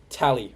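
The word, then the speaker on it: Tallai: Tally.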